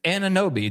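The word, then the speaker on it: Anunoby: Okay, it's Anobi.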